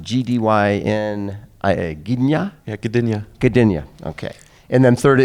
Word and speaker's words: Gdynia: How's that pronounced? Gdyn? Gdynia? Yeah, Gdynia. Gdynia.